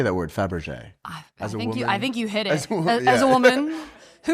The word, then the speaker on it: Fabergé: How do you say that word, Fabergé? I think you hit it. As a woman who understands the diamond egg industry, that would be Fabergé.